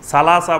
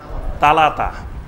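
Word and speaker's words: ثلاثة: সালাসা বলবে না, বলবে তালাতা।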